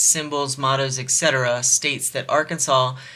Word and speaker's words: Arkansas: mots Etc states that Arkansas should be pronounced in three syllables with the final s silent the a in each syllable with the Italian sound and the accent on